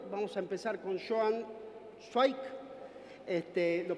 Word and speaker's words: Cwaik: Vamos a empezar con Joan Schweik. ¿Lo pronuncié bien?